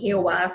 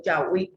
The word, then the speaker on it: Yahweh: el nombre del tetragramatrón, el Yahweh, que es lo correcto decir, no es Jehová, sino Yahweh, como lo tradujeron los católicos. Esta es la traducción correcta del tetragramatrón Yahweh, y ellos sabían que